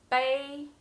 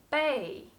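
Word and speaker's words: 背: how to pronounce it it has two pronunciations bae the first tone and bae the fourth tone when it's pronounced bae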